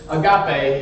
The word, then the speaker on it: agape: The last word, and the reason I'm telling you all this in the first place, is agape. Say it with me. Agape. Well, let's say it like a fun way, like agape.